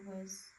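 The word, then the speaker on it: わ: So it's pronounced like wa in wasabi.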